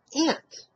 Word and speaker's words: aunt: They pronounce A-U-N-T as A-N-T. They eliminate the U when they pronounce that. Whereas in Massachusetts, you don't miss the U, because the U is in there when you pronounce it.